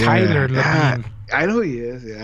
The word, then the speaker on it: Labine: Taylor Libin. Labine. Fuck, that's not even how you spell it.